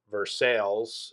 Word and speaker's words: Versailles: in germany oh uh ver ver sales is spelled the same as versailles in france but you